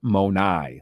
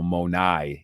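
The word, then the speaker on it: μοναί: used there in John 14 2 you would pronounce it monai that's plural all right so monai is how you would say it you know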